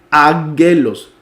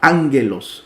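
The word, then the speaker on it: ἄγγελος: omicron Sigma y esto si nosotros lo pronunciamos normal sería agujelos Pero como se cambia la pronunciación de la primera sería angelos o angelos que significa Ángel o mensajero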